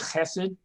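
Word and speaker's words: חסד: this but the word hesed that word for unconditional love that the that the chapter brings out it's it's spelled with an h but it's a ch sound like i don't know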